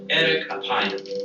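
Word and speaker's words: ארך אפים: In Hebrew, the phrase slow to anger is pronounced erek apayim, or literally long of nose.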